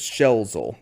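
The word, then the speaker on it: Schelzel: pronunciation too uh I I saw it pronounced as shelzel is how it was said online but I reserved the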